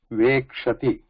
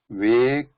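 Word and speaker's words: वेक्ष्यति: So when we write, suppose vekshati, so we should not write it like this or say it like this, because there is no ya here. So this ya should be seen here, right? It should be vekshyati.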